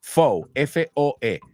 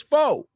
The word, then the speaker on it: foe: fo o and Amigo it's not Shu it's not Foo right if it follows the same pronunciation as Shu then that word should be Foo but it's not Foo it's foe welcome to English and